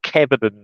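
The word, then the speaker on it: Caoimhín: I think it's pronounced Kevin in ours, but I think with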